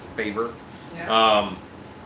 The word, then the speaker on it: Faber: bar put its favor it's pronounced favor and he said he's